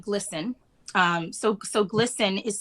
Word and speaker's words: GLSEN: there are organizations like glsen um so so glsen is spelled g-l-s-e-n glsen is um they've been around